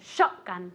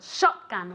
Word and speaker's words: shotgun: say escope very good shotgun this is the same thing accent on the first on on the first syllable shotgun one more time very